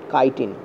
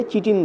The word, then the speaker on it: chitin: কাইটিন বানানটা এরকম হয়, CHITIN, ওই জন্য গুগল করলে চিটিন দেয়, রেলও অনেক সময় চিটিন দিয়ে দেয়, ঠিক আছে, কিন্তু এর উচ্চারণটা অ্যাকচুয়ালি কাইটিন হয়।